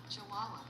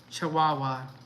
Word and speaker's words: Chihuahua: Chihuahua. Chihuahua.